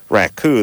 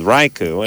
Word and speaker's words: raku: his junior college to correct me on my uh pronunciation of the firing of clay technique known as uh raku that i called raiku it is junior college